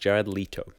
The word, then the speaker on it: Jared Leto: Just going back in the edit, apparently it's pronounced Jared Leto.